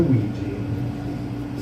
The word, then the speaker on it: Ouija: The worst part about Ouija is that not a single letter in that word is used to produce the sound it makes. Every letter is silent, and then a few invisible letters make a sound.